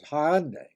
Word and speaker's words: Hyundai: The next two syllables of my word for today are relatively easier, and the un sound is said as an independent word, unconnected with what comes before or after. And then day, D-A-I, is where the I becomes a Y, just the reverse of the previous one. So the correct way to pronounce the word is Hyundai.